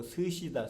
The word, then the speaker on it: 스시: 그래서 일본 한자로는 목숨수가 여기서 나와갖고 수시인데 일본에서는 수시라고 발음하지 않고 스시다.